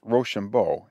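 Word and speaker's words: Rochambeau: of the french forces name for being pronounced roshambo it sounded when pronounced quick like rush on boys we had not lane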